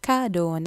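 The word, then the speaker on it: gâteau: ஸோ கேடோன்னு தான் சொல்லணும். ஏஎன்யூ போல தான் இஏயும் சேரேக்க ஓ மாதிரி தான் சவுண்ட் பண்ணும். கடோ, கடோ. நெக்ஸ்ட் வந்து 100, 100, அதை நீங்கள் சா தான் சொல்லணும்.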